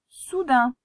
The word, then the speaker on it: soudain: Alors ici tu as, regarde bien, le OU qui fait OU et AIN qui vont ensemble et qui font un. Donc le mot c'est soudain. Soudain s'écrit avec le 1 de main.